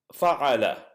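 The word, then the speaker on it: فَعَلَ: table, simple, 3-lettered, and the model pattern for the past tense is fa'ala. And what that means is that each of those 3 consonants would be pronounced with the fatha.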